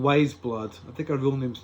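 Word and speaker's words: Weyes Blood: her name is yeah she's called wise blood but it's spelled like weye s.vs and I was thinking ways blood wee-wees blood what does that hate me it's wise blood I had to giggle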